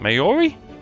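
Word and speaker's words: Māori: The Maori? Never was sure how to pronounce that. Maori, that's it.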